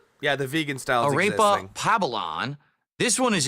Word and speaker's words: arepa: Say arepa, not arepa. Okay. Yeah, arepa. That's what it is. Arepa, not arepa. Arepa, excuse me. Apparently it's pronounced arepa. There you go.